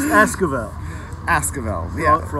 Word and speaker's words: Esquivel: rooftop with wonderful Dakota Oscar Ville that's right ass good yeah how you miss me mispronounced my left is Esquivel ask about the out